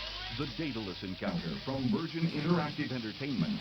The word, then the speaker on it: Daedalus: The Daedalus encounter from Virgin Interactive Entertainment.